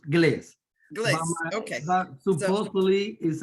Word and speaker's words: Gles: So I'm from Colombia, so we pronounce Glees.